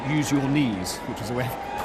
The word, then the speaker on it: Eugenie: She tells people who don't know her, you pronounce it, use your knees, which is a way of putting people at ease.